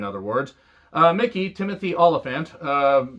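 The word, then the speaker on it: Olyphant: words uh mickey timothy oliphant uh who i used to call timothy elephant because i just can't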